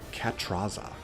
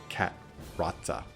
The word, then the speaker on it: Catrazza: Cat- Actually, Cat- Catrazza. Maybe probably. Yeah, just not 100% sure on the pronunciation on that one. C A T R A Z Z A. There are times in um the Italian words where the double Z isn't a It's like a a T sound, like a Mario Puzo.